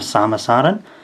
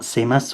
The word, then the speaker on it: Samus Aran: but here we have samasaran written in romaji across the bottom and katakana if there's any doubt about how to pronounce her name there we are not seamus or anything this is a figure